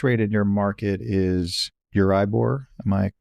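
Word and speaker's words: Euribor: So the base rate in your market is Uribbor. Am I pronouncing it correctly?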